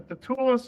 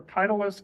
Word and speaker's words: titulus: Now, this list of charges is known as a titulus or a titulus, depending on how you want to pronounce it.